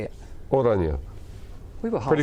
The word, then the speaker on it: Oranje: Oranje.